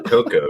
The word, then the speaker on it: Cuoco: Oh, Coco. Is she? Yeah, CUOCO. Yeah, she's Ukrainian. And that's how you spell it.